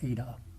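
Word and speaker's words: eta: The Greek letter N is pronounced ADA.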